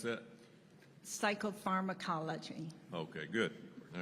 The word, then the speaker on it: psychopharmacology: She leads the PTSD pharmaceutically, how you pronounce that? Psychopharmacology.